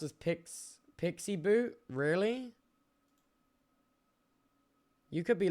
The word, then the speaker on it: PXE: It's pronounced PXE is pronounced as Pix Pixie Boot.